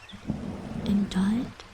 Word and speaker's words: indict: Indict. Also, the C was silent and knew it.